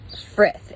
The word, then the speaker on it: frith: Another heathen value is frith. It's spelled F-R-I-D-H, but is pronounced frith, F-R-I-T-H.